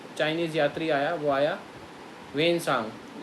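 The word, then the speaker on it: Hiuen Tsang: यात्री आया वह आया वेन सांग इसको वान सांग लिखा हुआ है टी साइलेंट है तो वेन सांग वैसे इसका प्रोनंसिएशन है आप पूछे फन कब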